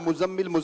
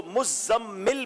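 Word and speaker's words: مزمّل: لوگ مزمل بولتے ہیں. اس کو مزمل پڑھیں گے کیونکہ تشدید ہے تو اس کو پڑھنے میں تھوڑا سا احتیاط کرنی ہوگی.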